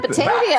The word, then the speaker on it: Batavia: Is that how you say it? Oh, yeah, Batavia.